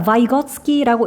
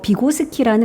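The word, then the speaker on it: Vygotsky: 자, 바이거츠키라고 읽고 뭐 비고스키라는 러시아의 심리학자다.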